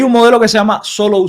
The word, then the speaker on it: Solow: modelo que se llama solo s solo sone solo se escribe solow así terminado en W eh SW a n